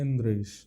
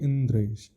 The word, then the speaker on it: इंद्रेश: अब आपका नाम है, मेरा नाम है इंद्रेश, उसका शुद्ध प्रोनाउंसिएशन होना चाहिए इंद्रेश। अब कोई बोले इंदरेश, और मेरे को बार बार इसी भाव से बोल इंदरेश, मैं भी कहूँगा अरे यार ठीक से बोलो ना, इंद्रेश नाम है हमारा।